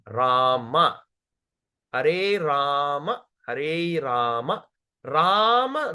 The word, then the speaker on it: Rama: Hare Krishna, Krishna, Hare Krishna, Hare Krishna, Krishna Krishna, Hare Hare, Hare Rama, Hare Rama, Rama, not Ramo, not Ramo or not Ram. Don't say Ram, Rama.